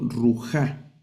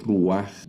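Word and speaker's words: רוח: Debería leerlo ruja, ruja, porque la regla es primero leer la consonante y luego leer la vocal. Pero el pata furtivo lo que tiene es que primero hay que leer la vocal y luego la consonante. Entonces voy a leer ruaj.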